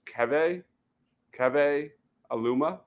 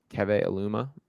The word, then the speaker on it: Keve Aluma: Apparently, it's pronounced Keve Aluma. Keve Aluma.